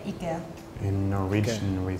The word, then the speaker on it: IKEA: They all pronounce IKEA, different parts of the word differently. So I think Denmark still has the E, but they change the end. It's like an A sound.